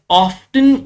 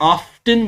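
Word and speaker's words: often: चीज बताना चाहूंगा कि ओ एफ टी ई एन इसको आप ऑफ्टन भी प्रोनाउंस कर सकते हैं और ऑफें भी प्रोनाउंस कर सकते हैं the depends on your choice road trips की रोड्स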